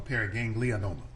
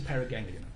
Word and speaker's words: paraganglioma: Doctor, just for clarification, is it pronounced paraganglioma or paraganglionoma? I often add in the extra vowel, so it's a paraganglioma.